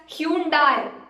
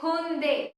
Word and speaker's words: Hyundai: You might wrongly say it as Hyundai, Hyundai. I don't know what all things you mispronounce it is. I have even heard from the people pronouncing it in the same way. But here you should call it as Hyundai. It's Hyundai.